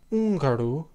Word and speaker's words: húngaro: in Portuguese, is a silent letter with no pronunciation, as in hijo, spelled H-I-J-O, meaning son, and húngaro, spelled H-U-acute-N-G-A-R-O, meaning Hungarian.